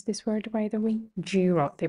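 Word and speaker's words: Giro: how they pronounce this word by the way jro they pronounce it they pronounce it as jro so Jalia is another major major cycling race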